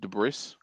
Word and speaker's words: debris: Actually, it's pronounced debris. There's lots of debris. But okay, I'm not French.